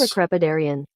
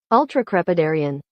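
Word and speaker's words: ultracrepidarian: this week's word is ultra crepidarian try that again this week's word is ultra crepidarian Ultra crepidarian okay Ultra crepidarian that's a seven syllable word so points for that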